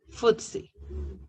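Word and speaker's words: FTSE: call it FTS e or you can pronounce it footsy that's how they call it the Financial Times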